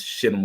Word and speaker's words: Shittim: Yeah, The that's Shittim wood.